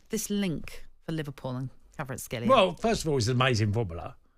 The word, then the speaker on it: Kvaratskhelia: I always get his name wrong, so Kvaratskhelia. Kvaratskhelia.